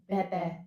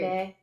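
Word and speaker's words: Bébé: It's like bebe. Yeah, I got corrected on that. It's like French for baby. It's I like think. Schitt's Creek. Bebe.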